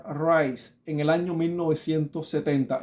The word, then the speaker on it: Rice: se menciona la r y el segundo apellido rice Rise en e para mencionarlo en español sería Rise pero rice para mencionarlo digamos más correctamente John r Rise Como